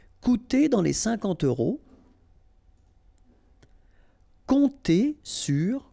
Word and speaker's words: compter: Compter sur, remember this P is not pronounced, and then O and M together will give you this nasal on.